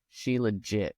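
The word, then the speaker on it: shilajit: it's s h i l a j t she legit it's a yeah I have okay now that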